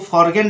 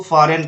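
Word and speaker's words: foreign: जैसे इसको फॉरगेन नहीं पढ़ना है, इसको फॉरेन पढ़ना है, फॉरेन।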